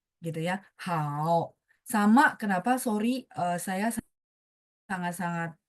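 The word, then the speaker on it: 好: Contohnya huruf tunggal itu kalau nada tiga kita baca full namanya. Hao. Jadi dia turun baru naik gitu ya. Hao.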